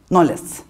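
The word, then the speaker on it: know: edebilir diyor 17 yüzyılda noes herhalde nol diye okunuyordu değil mi sü burada İngilizce uzmanımız var takdim ediyorum değil mi No diye okunur no diyor söy Kay demiyoruz her knov oluyor o Evet nol o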